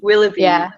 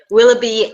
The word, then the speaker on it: Willoughby: do you say his name will will will willby okay Willoughby and Edward especially them um I do see